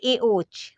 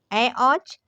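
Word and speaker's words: ऐऔच्: तरह इसको बोलते हैं एओ तो ये ए ओ नहीं है यह है अ औच क्या है ए औच ए ओ ए औच ठीक ए ओ एज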